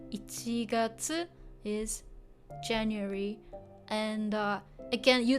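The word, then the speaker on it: 一月: And this one pronounced a bit differently. Ichi, 1, gatsu, moon or month. So ichigatsu. Ichigatsu is January.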